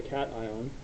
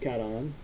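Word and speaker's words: cation: ion so positively charged particle is called a Caton and it looks like cashion but it's pronounced Caton and then all non-metals will gain electrons oopsies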